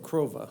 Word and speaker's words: Crova: I said Crova. Crova, I'll use that, Crova, to cover the entire cost of the graphics of the newly recruiting vehicle concept.